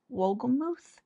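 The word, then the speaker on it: Wolgemuth: Believe by Nancy Damas Wolgamuth is how you say her married name, which her husband passed away this past year, so it was really just kind of sad.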